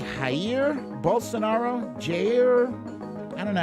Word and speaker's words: Jair: Javier, where's the V? I don't see the V in his name. It's spelled Jair. I don't see a V in there.